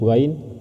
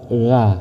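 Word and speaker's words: غ: Untuk huruf ghain ini cara membacanya harus dibaca g bukan a bukan gha bukan tapi gha gha gha.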